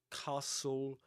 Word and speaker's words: castle: So t l e, but you don't say wistl castle nor nestled. You say whistle, castle, nestle, or nestled in the simple past.